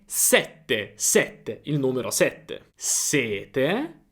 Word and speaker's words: sette: Ok, è sette sette.